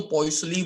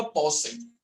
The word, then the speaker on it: Poiseuille: तो मैं तो पॉइसली बोल देता था, बट मुझे बताया कि भाई फ्रेंच है तो फ्रेंच में ही प्रोनाउंस करना पड़ेगा आपको, तो होता पॉसई।